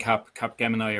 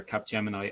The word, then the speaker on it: Capgemini: And just to kind of echo what you said there, do you remember I mentioned Capgemini or Capgemini? I pronounce it incorrectly, by the way, folks.